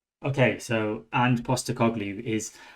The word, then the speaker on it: Postecoglou: how we see his name okay so and poster cogley is how you say his name this is